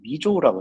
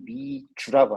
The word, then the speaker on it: Mizou: 갖고 왔을 때 미 주라고 안 하고 미 조라고 했었어요 미 조라고 했는데 어 제 형광이 위에서서 그런 가죠 화면에 나오는 내 얼굴이 되게 기름이 많이 껴 있는 거 같아요 어 미 조라고 했는데 발음이네 발음이 미 주라고 합니다 제가 물어보니까 동물 할 때 주 그거라고 하더라고요 그래 갖고 저희도 미주라